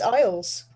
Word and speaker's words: Iles: love you are correct it is isles it is like the british isles isles but just not spelt the same thing you've got to handle